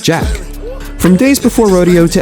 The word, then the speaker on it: Jacques: In 2019 Travis released a collaborative student project titled Jackboys, a play on title to his real name Jacques or as he pronounces it Jack.